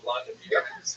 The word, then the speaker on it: Vladimir: What's especially important in its history is the version of one of its leaders, Volodymyr, pronounced in Russian Vladimir, shown here in a statue overlooking the Dnipro River that runs through the middle of Kiev.